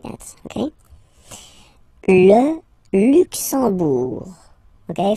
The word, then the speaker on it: Luxembourg: Le Luxembourg, okay, final G not pronounced, and then when you combine this E, M here, you get the sound en, en. You don't pronounce the M at all, it's this nasal en, okay?